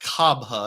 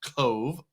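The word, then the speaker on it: Cobh: Uh, Re says, "The town is not pronounced Coba. It's pronounced Cove."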